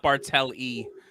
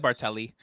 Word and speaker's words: Bartel: Okay, the cover artist is Jen Bartelli. The artist is Jen Bartel, not Bartel-E. I said Bartel. You said Bartelli.